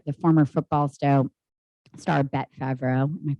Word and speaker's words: Favre: So they're basically they uncovered a really wild set of corruption going on where the former football star Bet Favreau, am I pronouncing his name correctly?